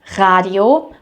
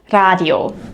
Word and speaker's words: Radio: What is important is this, the German r is not the English r sound.